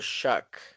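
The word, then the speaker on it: Shough: Shuck and he asked like how do you pronounce the name? He came out there and said Tyler Shuck.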